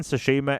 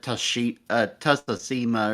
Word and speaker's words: Tsushima: Like, I feel I think I first pronounced it Tusima or something like that, and then somebody laughed. Was like, no, it's not. It's this.